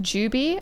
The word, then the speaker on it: Jube: Jube is pronounced Juby?